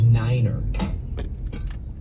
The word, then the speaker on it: niner: You know, pilots are supposed to pronounce numbers in a really funky way. Like you're supposed to say tree instead of three. You're supposed to say five instead of five. Uh, and then nine is niner.